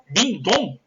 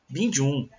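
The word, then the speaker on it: Becamex Bình Dương: É Becamex Bindon? É isso? Binjun. Bindon. Eu falava Becamex Bindon.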